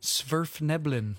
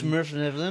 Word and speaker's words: Svirfneblin: Svirfneblin. Excuse me, what? Svirfneblin. Smurfneblin? No, Svirf. Svirf. Neblin.